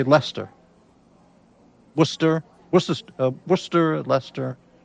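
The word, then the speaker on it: Leicester: What's the correct correct pronunciation? I would say Lester.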